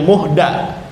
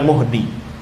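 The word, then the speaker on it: مُحْدَث: Ini pun termasuk orang yang awa dibacanya muhda bukan muhdi. Muhda berarti ya objek bidahnya itu. Kalau muhdi orang yang membuatnya terus ada yang menjaganya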